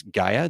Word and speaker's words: Gaia: called uh and I I don't normally pronounce it correctly my son always corrects me uh but it's Gaia g i a i g i a i